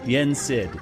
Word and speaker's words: Yen Sid: god what's his name his name's Disney backwards yet sit or so yeah I can't even however pronounce Dizzy's name backwards that's it say it again yes it yen SID yes thank you it's